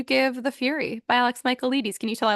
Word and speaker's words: Michaelides: How many pinkies up would you give The Fury by Alex Michaelides?